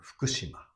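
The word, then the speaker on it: 福島: So the important thing is that these U should not be pronounced. Not be pronounced. Okay. But keeping Fukushima. one more. Yeah. So Fukushima Fukushima. has four mores.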